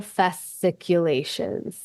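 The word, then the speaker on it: fasciculations: Just as best as you can pronounce it. festiculations.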